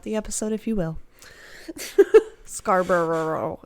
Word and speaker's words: Scarborough: episode if you will scarborough there's too many syllables you just gotta not say all the syllables just like worcestershire it's like wings like yeah forget about some of the syllables it's fine i appreciate